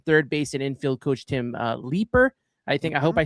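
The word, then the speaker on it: Tim Leiper: Third base and infield coach Tim Leeper.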